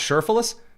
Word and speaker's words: Cherfilus: Oh, her middle last name is pronounced Cherfilus?